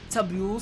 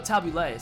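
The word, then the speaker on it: tabbouleh: the hookup from burst of hope very nice tabula salad though oh tabulay sorry i usually see that serve with euro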